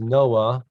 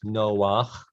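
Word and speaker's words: נֹחַ: read as normal uh people pronounce it as noah but in hebrew it's noah you know the man who had the floating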